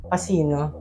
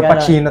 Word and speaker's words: Pachino: lang yung patch Yeah a lot of people mispronounce my name lalo na siguro ung mga teachers who don't know me mm so pasino pasino pero pachino talaga ang tawag Ah okay